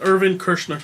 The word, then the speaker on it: Irvin Kershner: Irvin Kershner. Irvin Kirshner. We were close. Erwin I was saying Kershner.